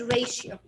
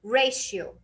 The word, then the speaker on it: ratio: Okay, like the word ratio. So we said that if the T happens to have I after it, then I will pronounce it as sh. Then it will be ratio. Ratio.